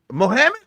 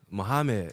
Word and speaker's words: Muhammad: G, it's Muhammad. What? It's like the same way that you say Muhammad Ali. Muhammad. Mohammed. I asked you that before, Muhammad, and you said no.